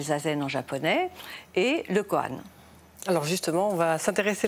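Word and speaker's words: kōan: Alors, le COAN, on a gardé ce mot, mais c'est la prononciation japonaise d'un terme chinois qui est Gongan.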